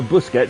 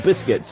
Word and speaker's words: Busquets: things that's absolutely appalling as i used to call them sergio busquets sergio biscuits uh because i generally thought that was his name uh just of course